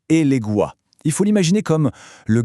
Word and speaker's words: Elegua: Déjà chose importante, on prononce bien Eléguais.